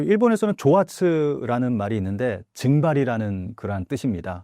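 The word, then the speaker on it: 蒸発: 그 일본에서는 조아츠라는 말이 있는데 증발이라는 그러한 뜻입니다. 그러니까 한자로 증발을 일본어로 읽으면 조아츠라고 읽는데 이게 갑자기 사라진다고 해서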